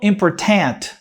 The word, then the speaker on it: important: E tem alguns que falam important. Important. Mas a palavra é pronunciada important.